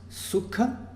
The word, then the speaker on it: sukha: com duas sílabas curtas, sukha, o U é curto, o K não é um encontro consonantal, não é um K mais um H. K é a versão aspirada do K, tá certo? Então é uma consoante apenas, K. Então sukha, duas sílabas curtas.